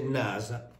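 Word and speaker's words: נשא: consonanti in questo caso se noi mettiamo un puntino qui in questa esse si legge effettivamente come una s e quindi questo significa si legge nasa che cosa vuol dire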